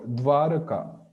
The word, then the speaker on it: Dwaraka: So we should pronounce va, Dwaraka and Vrindavan and like that. Yeah, so I mean in Bengali that sound is not even pronounced at all. It's like Dwaraka and Ishwara. That is Yeah. va, like Brindabon, and so on. So that's Yeah, either it's not pronounced at all or it's ba.